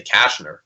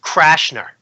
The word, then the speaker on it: Cashner: you were gonna say Cashner I thought that was the guy that you were gonna throw at me it's pronounced crash nur and what I mean